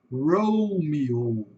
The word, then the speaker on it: Romeo: hora de escutar, porque nós falamos Romeu. Em inglês, eles vão falar Romeo. Romeo. Aqui tem várias coisas que a gente tem que prestar atenção. Primeiro com o R forte, o R do caipira, acabei de falar R forte aqui, né? O R do caipira, o R bastante acentuado.